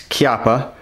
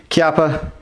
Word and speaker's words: Chiappa: That's Chiappa. It's spelled like this, CH, but it's Italian, so fast fact of the day, CH is a hard sound in Italian, so it's not Chiappa